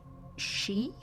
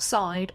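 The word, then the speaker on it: sídhe: I've been informed that it's pronounced she not side or SID she she the ancient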